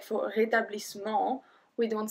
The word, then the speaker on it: rétablissement: Rétablissement. Technically, we don't pronounce the E after the double S, so we will say rétablissement.